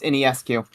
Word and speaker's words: Ionescu: not how you say her name. It's Ionescu. Ionescu. See, I knew TJ's buddy told TJ that it was that, and I forgot.